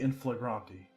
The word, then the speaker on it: in flagranti: up how this word is supposed to be pronounced because I wasn't sure the last time. It's apparently in flagranti.